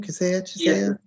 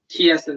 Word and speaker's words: Chiesa: How do you say his name? Kisea? Chiesa. Yeah, there we go. Think house keys.